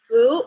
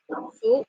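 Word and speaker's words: 福: And the Chinese pronunciation of this character is Fu means lucky, means luck. Fu means luck.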